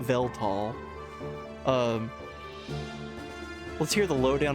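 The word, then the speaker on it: Weltall: So, this is this is well tall. As I learned, it's actually pronounced tall.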